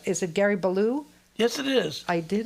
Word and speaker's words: Balough: Is it Gary Balough?